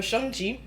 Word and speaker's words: Shang-Chi: uh okay so this was the review for shonji and yes i am saying it correctly okay